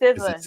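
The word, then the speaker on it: SZA: It's Sizza. He was right. But I'm like how don't you know? Just keep going. Okay. Yeah. He said singing said he was only at the concert to see Siza perform and he reaffirmed his loyalty to the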